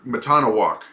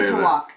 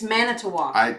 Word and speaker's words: Manitowoc: Kathy's from Matanawak. Now, how do you say that? Manitowoc. It's Manitowoc.